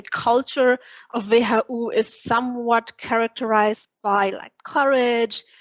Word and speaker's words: WHU: So I'm pronouncing it wrong. It's not WHU. It's the English pronunciation, which is totally fine, but we usually pronounce it in a German way, which is also cool. So we would say WHU.